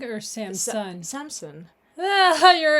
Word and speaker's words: Samson: Samsung or Samsung? Samson. Ah, your accent. You have an accent. Water bottle.